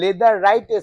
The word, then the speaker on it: Leatherette: sofa অসাধারণ সুন্দর একটা লেদার রাইটের সোফা লেদার রাইট উচ্চারণটা কিন্তু নট লেদার আমি বারবার বলি মার্কেটে যা শুনবেন লেদার লেদার লেদার করে যায় একটাও লেদার না পিওর